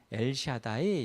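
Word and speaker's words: אל שדי: 하나는 전능의 하나님인데이 전능의 하나님이 그 히브리어로는 엘샤다이 이렇게 이제 발음해요.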